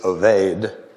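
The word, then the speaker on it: עוֹבֵד: Boaz, the father of Obed. Now I'm going to call him the Hebrew pronunciation of Obed is Oved, O-B-E-D, Oved, whose mother was Ruth.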